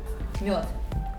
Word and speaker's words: мёд: Yeah Мёд. What? It's Мёд. It's tough But you have sound in Thai. Shayanka. Yeah. Мёд. M But like m is the hard part.